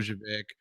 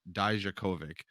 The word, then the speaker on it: Dijakovic: Dojovic I'm sorry, Dijakovic.